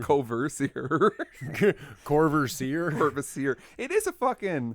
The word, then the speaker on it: Courvoisier: how is it pronounced? Courvoisier. That's how Courvoisier? I've always said it. Like the song past the Courvoisier, or you hear it in rap Courvoisier.